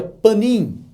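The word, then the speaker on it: פנים: Mas a palavra proposição, no hebraico, ela vem de uma palavra hebraica que se pronuncia panim.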